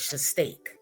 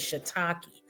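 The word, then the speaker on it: shiitake: You said it was shistake. It is not shistake. It is shiakei.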